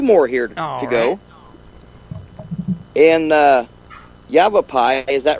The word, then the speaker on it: Yavapai: In Yavapai, is that right? Did I pronounce that right, Scott? Yeah. Yavapai County.